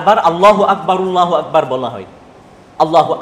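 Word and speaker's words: الله أكبر: আল্লাহু আকবার আল্লাহু আকবার আল্লাহু আকবার আল্লাহু আকবার। সুন্নাহ হচ্ছে প্রথম 2 আল্লাহু আকবার এক নিঃশ্বাসে হবে, দ্বিতীয় 2 আল্লাহু আকবার এক নিঃশ্বাসে হবে, এবং রর মাঝে সাকিন হবে, সাকিনের সাথে ওয়াকফ করে উচ্চারণ করা হবে।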